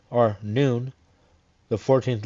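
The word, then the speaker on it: Nun: N, or Noon, the 14th letter, path number 24, joining Tifros to Nitzak, a numerical value of 50.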